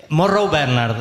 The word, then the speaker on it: Morrow Bernard: Morrow Bernard es en realidad. ¿Cómo? Morrow Bernard. Morrow Bernard es irlandés.